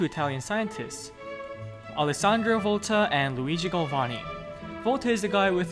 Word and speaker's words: Luigi Galvani: Ma il mio nome si pronuncia Luigi Galvani.